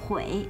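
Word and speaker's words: 悔: A droite se trouve le « chaque », il se prononce Hui.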